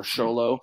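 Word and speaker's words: Xolo: out is called uh Zolo or sholo uh do you want to pronounce it correctly Spanish right um so x-o-l-o for people who aren't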